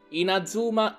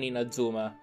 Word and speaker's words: Inazuma: Inazuma, Inazuma, non Inazuma.